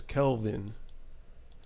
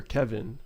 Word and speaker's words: Kelvin: holy night's cheer oh my real name is Kelvin so a lot of times when I say my name Kelvin people say people hear Kevin or Calvin so or when they